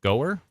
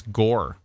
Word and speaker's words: Gower: you please check it's Gore oh North Gore Gore just Gore like Gore in a movie like in a scary movie the gore G rhymes